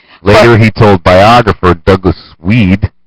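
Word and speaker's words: Wead: he told biographer Douglas weed yes pronounced like weed I like the answer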